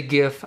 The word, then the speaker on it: GIF: I say GIF. I know a lot of people say GIF, and I genuinely don't care. Or in this case, I genuinely don't care if you pronounce it GIF or JIF.